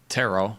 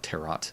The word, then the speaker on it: tarot: how to read their tarot I want to call it terot because that's how it's spelled but um I'm not